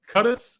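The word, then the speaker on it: Qudus: and uh i guess his name is cutters that's how you pronounce it cuttis wahhab i'm gonna call him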